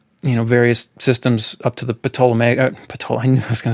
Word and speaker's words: Ptolemaic: We went from various systems up to the Ptolemaic. I knew I was going to say Ptolemaic because I'm looking at it on a piece of paper. Ptolemaic, you don't pronounce the P.